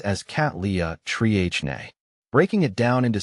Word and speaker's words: Cattleya trianae: you're not familiar with Botanical terms it is pronounced as cat Lea Tri NE breaking it down into syllables can help with